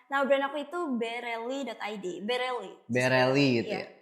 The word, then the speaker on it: Berelli: Bereli gitu ya. Cara bacanya Bereli.